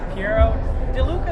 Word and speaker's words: Piero De Luca: us up as well so we're here with pi DeLuca is the right way to pronounce it I haven't been doing it wrong